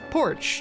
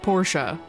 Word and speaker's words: Porch: at the festival, but he's apparently pronouncing her name wrong. It's Porch, not Porsche.